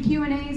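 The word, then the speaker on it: queue: And keeping Q&As in mind, did you know the answer to yesterday's riddle? What word is pronounced the same if you take away 4 of its 5 letters? That would be Q.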